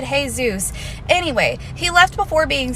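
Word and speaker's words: Jesús: Anyway, then he was all like, I know Jesus, you know, the guy on the board. And I was like, I'm pretty sure you pronounce it Jesus.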